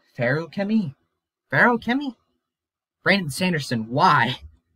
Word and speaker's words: Feruchemy: one here and also it's pronounced like pharaoh chemi barrel kimmy brandon sanderson